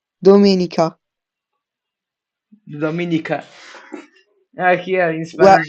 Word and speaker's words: Domenica: In Italian, you would say Domenica. Try to say that. Dominica, Domenica.